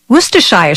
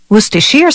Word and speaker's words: Worcestershire: its name can be a bit of a tongue twister Worcestershire sauce Worcestershire sauce Worcestershire sauce all those pronunciations are acceptable as are the endless